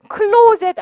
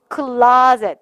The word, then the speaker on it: closet: Closet 아니고 뭐야? Closet. 물론 영국 발음은 closet가 맞습니다만 대부분의 경우는 미국 발음으로 가고 있기 때문에 아 발음 내시면 될 거예요.